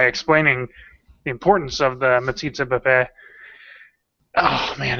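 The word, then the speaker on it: metzitzah b'peh: No, I actually, for once, I was like, I'm going to pronounce this right. It's Metsitsa Bapé.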